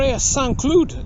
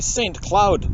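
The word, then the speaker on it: Saint-Cloud: in the uh for S clude which is uh you know in English it would be Saint Cloud but that's not how they say it here it sounds like uh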